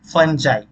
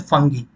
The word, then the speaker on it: fungi: अब हम लोग आते हैं तीसरे इंपॉर्टेंट किंगडम में, वो है फंजाई। फंजाई या बहुत लोग इसको प्रोनाउंस करते हैं फंगी, है ना, तो आप कुछ भी प्रोनाउंस कर सकते हैं।